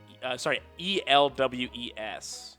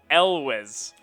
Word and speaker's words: Elwes: And every time I'm pretty sure it is it's a vocalized S, not a. So it's Elwes with like a Z sound.